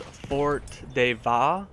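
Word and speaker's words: Fort de Vaux: The second map is called Fort de Va. I think that's how you pronounce it.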